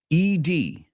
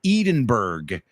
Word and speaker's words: Edinburgh: The fourth one is Edinburgh.